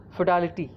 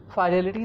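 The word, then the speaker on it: fidelity: तो पहला जो हमारा वर्ड है इसमें आपको देख पा रहे हैं फिडेलिटी, है ना। फाइडेलिटी नहीं, आप इसको फाइडेलिटी पढ़ भी सकते हैं, है ना, दोनों तरह से पढ़ा जा सकता है।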